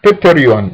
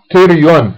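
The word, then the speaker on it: pterion: تكتب بيتريون لكن تلفظ تيريون، البي سايلنت مثل تيريغويد، تكتب بيترغويد بس تلفظ تيريغويد.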